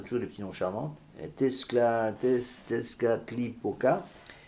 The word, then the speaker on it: Tezcatlipoca: des petits noms charmants, Tezcatlipoca, comme ça se prononce, était moins que rien puisqu'il se tenait en dessous de la dame et était en plus diabolique puisque noir.